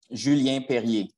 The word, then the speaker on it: Julien Perrier: Julien Perrier.